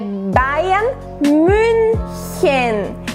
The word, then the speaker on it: Bayern München: Então a pronúncia certa é Bayern München, que é o time de Munique, München, a cidade de München.